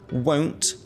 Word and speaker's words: won't: say won't so you won't want a drink and this is nice because you can hear the pronunciation difference you won't want a drink so the won't is the long o you won't want a